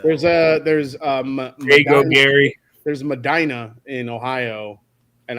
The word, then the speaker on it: Medina: There's Madina in Ohio and I was pronouncing it Medina, like funky cole Medina, and I got in trouble for that, too.